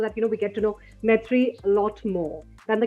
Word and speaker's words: Maitreyi: There's obviously the really anglicized ways like Maitreyi, right? Like my tray. Like, I don't. But for me, I like it to be pronounced Maitreyi, right? Because there's like the Y-I at the end.